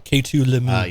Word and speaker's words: Lemieux: K2 Lemieux. Yes. K2 Lemieux. That's how you pronounce that.